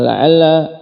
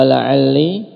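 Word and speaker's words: لعلّ: Nah, ini sebagai faedah tambahan bahwasanya la'alla pada lughah uqail ada 4 cara pengucapannya, wahia la'alla wa la'alli wa 'alla wa 'alli. Bi fathil lamil akhirah wa kasriha, dengan menfathah lam akhir dan mengkasrahnya wa kasriha fihin.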